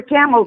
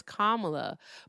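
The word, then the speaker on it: Kamala: And you just mispronounced the former vice president's name on purpose because you know that her name is Kamla, but yet you think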